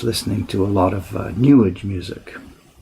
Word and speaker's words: New Age: to a lot of New Age music. New Age, you know, Newage, rhymes with sewage.